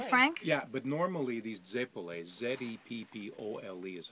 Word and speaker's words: zeppole: Yeah, but normally these Zeppole, Z-E-P-P-O-L-E is how it's spelled.